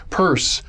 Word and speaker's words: Peirce: Now, first of all, I'm always puzzled by why do we pronounce his name Peirce when it's spelled Peirce?